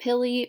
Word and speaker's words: pili: and supports the cell the pilli or pili depending on where you're from how you say it the pili are